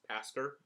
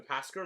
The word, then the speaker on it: Pasker: and you want pronunciation think pascal lamb from passover it is pasker instead of haskell uh the pasker lodge um it is